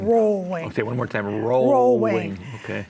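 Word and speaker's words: Rohlwing: Rowing Road? Rollwing Road. Rollwing. Rollwing. Okay, one more time. Rollwing. Okay. Just think OH is pronounced O.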